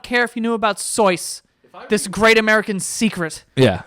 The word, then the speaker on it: Seuss: this podcast is that you've been saying dr. Seuss wrong all the time and by the way if you're one of the people out there that knew that before going into this and you're like oh I knew it was sois you